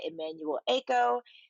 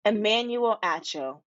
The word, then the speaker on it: Emmanuel Acho: after the final rose which was hosted by emmanuel ako i hope i'm saying his name right oh